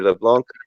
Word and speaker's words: LeBlanc: have a little rhyme when I'd spell my name it would be le capital B la and C and then people would ask how I pronounce it I'd say LeBlanc but silent C right correct alright because